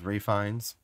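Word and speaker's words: Fiennes: red dragon with um I guess his name is Rines even though it's spelled Ralph fenus that pisses me off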